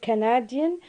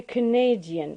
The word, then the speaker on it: Canadian: reduced to shiva so when we have an adjective we won't say canadian but we say canadian we say canadian so stress is shifting from the first syllable to the second for the simple reason